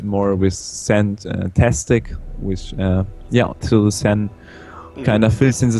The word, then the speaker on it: Xen: then they come like, if English people like pronounce my first name like, it's like this sin in the end of it. And I just took the sen from it and made it.